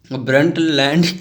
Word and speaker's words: Brundtland: BRUNDTLAND, क्या होगा इसका प्रोनाउंसिएशन? ब्रंटलैंड commission.